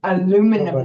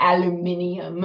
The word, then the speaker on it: aluminum: Neil deGrasse Tyson on how we pronounce it's aluminum, not aluminium.